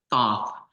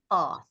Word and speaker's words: Thoth: appreciate no appreciate because th makes sense it actually would be more thought right thought being thought so beautiful beautiful all